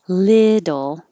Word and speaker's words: little: And little, the word little, the first syllable is stressed, means stretched and higher. And the T's in the middle change to D's.